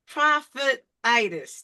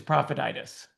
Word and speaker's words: Profititis: So, what is prophetis? Did I say it right? Yeah, you said it. You know, like laryngitis, some other kind of itis. It's an itis. It's an itis of the profit.